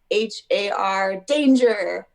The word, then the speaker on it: Hardanger: of norway it's called the hard domino fiddle it's spelled h-a-r danger but it's spelled pronounced hardanger and i have